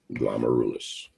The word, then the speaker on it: glomerulus: the glomerulus in there again that's pronounced glamer ruus glomerulus and the glomerulus has